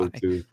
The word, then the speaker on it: Mot: trust him because earlier he was pronouncing Mot as Moat, and I was like, I don't think that's right, and now I'm confused. So I just wanted to verify. Motu. Well, in Ugaritic, it's Motu. Pesky.